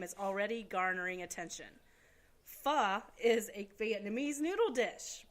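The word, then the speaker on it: Phở: controversy over the name is already garnering attention Fah is a Vietnamese noodle dish pronounced exactly like I just said [ __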